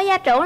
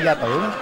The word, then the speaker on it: gia trưởng: Bạn ơi, bạn có gia trưởng lắm không? Mình không gia trưởng rồi. Gia trưởng chứ không phải gia tưởng. Dạ em. Gia trưởng đó là dạ em Bến Tre phát âm sai ạ.